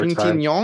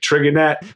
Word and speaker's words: Trintignant: Yeah, and Josh, pronounce the lead actor's last name for me one more Trintignant. time. See, that's very good. I would have been like Trigonet.